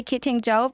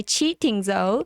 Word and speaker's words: QiTing Zou: Yes, you can say kidding Joe, but the proper way is to say cheating though.